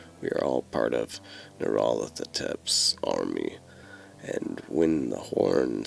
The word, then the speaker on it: Nyarlathotep: I like to pronounce the name as Nyarlathotep, but honestly, go with whatever you feel works.